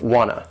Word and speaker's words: wanna: is gonna and wanna they sound like one word that would have two syllables and the stress is on the first syllable gun no wha no that second syllable has the schwa that a sound which is a reduced valve sound and also notice there is no T sound in - it basically goes from that n sound that straight into the